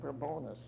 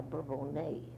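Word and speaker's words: Bourbonnais: town we called it burr bonus but now they've taken the French pronunciation a bourbon a and I said it was a home of st.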